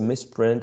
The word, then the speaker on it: misprint: Misprint is one of those words in which, sorry, the lexical stress is placed on the first syllable when it's a noun, and on the second syllable when it's a verb.